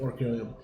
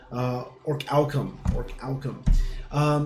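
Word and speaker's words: Orichalcum: then it's going to be orcanium. Not orcanium. So check that real quick. That is going to be your, I always mispronounce it, orcalcum.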